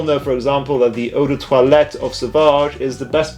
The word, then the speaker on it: eau de toilette: Okay, that pronunciation was pretty horrendous. I'm not a snob about that kind of stuff, but it's pronounced eau de toilette, guys.